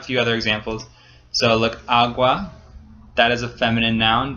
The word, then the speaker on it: agua: We don't say el agua, it's el agua. So the first syllable is accented, it's stressed, and so that's why it gets the L and un.